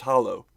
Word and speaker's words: Hallow: And yes, it is spelled with an A and still pronounced Hollow.